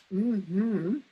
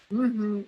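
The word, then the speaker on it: mmhmm: has come up with a brand-new one called mm-hmm that's how it's pronounced mm-hmm it's not out yet but it's got some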